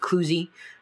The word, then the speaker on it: Cluzee: does even better than kuzie uh at least I pretty sure that's how you pronounce it c u Ze or if you want